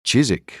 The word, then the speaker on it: Chiswick: her back to chisik Chiswick pronounced chisik thought Stanley for the